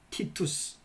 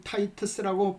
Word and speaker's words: 티투스: 베스파시안은 아들 티투스 혹은 타이터스라고 발음하기도 하죠.